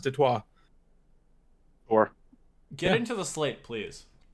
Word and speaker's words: Detroit: Or Detroit, I guess, as apparently it is pronounced by the French. Who founded that city, I found out this week. Apparently Detroit is supposed to be pronounced Detroit.